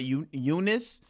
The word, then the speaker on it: Eunice: But Eunice and the E is silent.